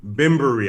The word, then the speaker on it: Bembury: We got the good brother Salehe Bembury joining us on KFTV. Salehe, welcome to KFTV, man. Thanks thanks for joining the show. Thank you for having me. First, I got to correct you. Bembury.